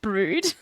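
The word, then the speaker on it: Brewood: I went to a place called uh uh brood which is literally spelled briwood which is insane like b r e e w o o d and it's pronounced brood like so like I had family that lived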